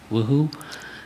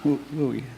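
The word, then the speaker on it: WUI: to AB130 and being in the if I pronounce it correctly, Woohoo. Uh Wooi.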